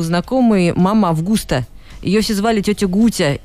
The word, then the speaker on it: Августа: И не именно Августа, а Августа почему-то. У нее там даже ударение проставлено.